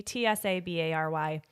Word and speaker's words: Tsabary: Is it Tsabary? Tsabary? You don't say the T. Tsabary.